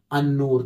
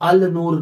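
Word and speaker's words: النور: तो जैसे बताया गया अस्सलाम, अन्नूर, तो अल नूर नहीं है, अल सलाम नहीं है, असल में अस्सलाम है, अन नूर है, क्योंकि वहां हुरूफ शमसी मसला है।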